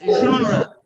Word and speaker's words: genre: Is genre. Genre. Okay, you can go to Google. When you say pronunciation of this word, Google will tell you the pronunciation.